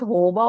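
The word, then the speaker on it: jojoba: Hoba actually pronounced Hoba.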